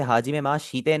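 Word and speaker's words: はじめまして: मैं इसे हाजी में मा शीते नहीं पढ़ रहा। क्यों? क्योंकि यहां पर भी हमारा ई साइलेंट है।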